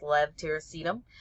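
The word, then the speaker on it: levetiracetam: of Tegretol or epitol levtiracetum which almost everybody mispronounces it's kind of a a hard one even pharmacists had trouble with that for a very long time but it's Lev tyracetum and that's known by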